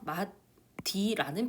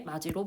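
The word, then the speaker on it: 맞이: 마디라는 비표준 발음이 나타난 이유는 표준 발음법 10항을 적용하였기 때문입니다. 마지는 구개마를 적용해 마지로 발음을 해야 합니다.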